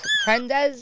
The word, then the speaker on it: Prendes: It's Prendes. Yeah, Prendes. Prendes.